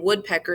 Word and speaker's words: woodpecker: pecker is two so the long sound in woodpecker is in the beginning long short short woodpecker telephone is the